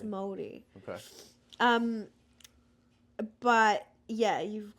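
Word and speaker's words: Māori: it's and there's some pretty hot ones M Morty Morty Morty m o r i it's like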